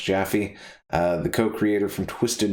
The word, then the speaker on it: Jaffe: anyway uh david uh jaffe i think is how it's pronounced jaffy uh the co-creator from